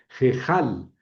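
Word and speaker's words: הֵיכָל: Bueno, hay la CAF no lleva puntito, entonces tiene que ser suave y tendría que decir jal. Esa he puede pronunciarse muy suavemente jalás suave que la que la kaf je jejal.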